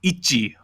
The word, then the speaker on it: ITZY: So their tagline is called "It's Different," and the English way to pronounce the name is Itzy, but in Korean, it's like Itzy.